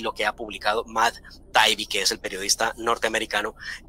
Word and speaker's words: Matt Taibbi: pregunta, doctor Fernando, para quien lo quiera buscar, se escribe M-A-T-T espacio T-A-I-B-B-I, Matt Taibbi, Matt Taibbi.